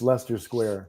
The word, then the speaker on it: Leicester Square: It's spelled like Leicester, but it's Leicester Square.